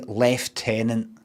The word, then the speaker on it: lieutenant: love this game too you use the American pronunciation of lieutenant in the v th like I don't say left tenant if that's what it is if that's what you mean left tenant oh I've got something